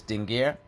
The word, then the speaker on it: Dingir: This star-looking sign is the determinative for divine, not meant to be pronounced. If you were to pronounce it, you would pronounce it as Dingir, but you wouldn't always pronounce it as Dingir in this inscription.